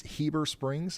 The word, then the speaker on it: Heber Springs: Heber, it's not Heber, it's Heber Springs.